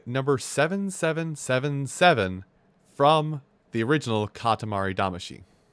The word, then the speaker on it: Katamari Damacy: 7777 from the original katamari damashi i'm saying she because that's how they say it in the game it's the song that